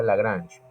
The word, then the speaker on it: Lagrange: Se escribe Lagrange, pero se pronuncia Lagrange, ¿sí?